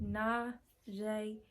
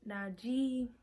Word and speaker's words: Najeé: That's how you pronounce it. Najeé. It's not Najeé. None of that.